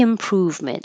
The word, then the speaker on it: improvement: Steady improvement. I underline prove because it's secondary stress, so it should be a little longer but not higher.